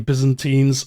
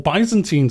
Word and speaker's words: Byzantines: I know some of you don't like the name Byzantines, or Byzantines as I used to pronounce it.